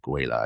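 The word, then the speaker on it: Guéla: Guela, I believe is how you pronounce it.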